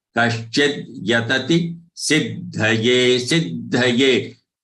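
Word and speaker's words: सिद्धये: Kaschid yatati siddhaye. Siddhaye. Please note that siddhaye's dha is full. It is not siddhye.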